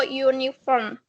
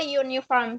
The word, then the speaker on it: uniform: Because uniform, it's like use Y after A. So uniform. So a uniform.